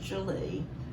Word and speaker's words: Gwili: that that's how you pronounce it but it's pronounced julie thank you so much for taking the time